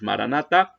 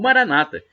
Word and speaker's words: Maranatha: nós não é como dizemos nós católicos Maranatha ou Maranata com a tônica na penúltima sílaba e como dizem os